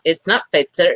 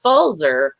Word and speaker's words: Fulzer: It's not Fitzer, it's Fulzer.